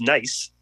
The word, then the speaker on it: Nice: No, and then I took the train 45 minutes through Nice, pronounced Nice, into Monaco.